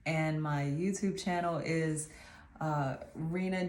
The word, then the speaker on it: Reina: know how to say it so anyway I'm Rena welcome to my channel I'm gonna do